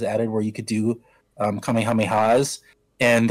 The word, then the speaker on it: Kamehameha: where you could do Kamehamehas, and there were a lot of YouTubers who were completely mispronouncing it. They're like, Kamehameho, or I don't know how they were mispronouncing it.